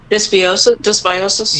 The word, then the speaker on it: dysbiosis: Dysbiosis?